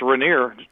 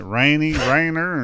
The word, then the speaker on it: Rainier: can pronounce it oh it's pretty simple it's Rainier Rainier okay Rainier okay well we was pronouncing it rainy Rainer and we're from the